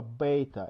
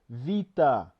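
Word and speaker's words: βήτα: didn't pronounce proper alphabet it's not Alpha Beta it's Alpha Vita Vita not beta so how's that a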